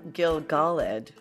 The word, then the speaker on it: Gil-galad: so there so before we jump into gilgaled um is that right yes okay uh correction